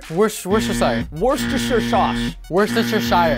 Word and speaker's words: Worcestershire: This is the sauce nobody can pronounce. Worcestershire? Worcestershire.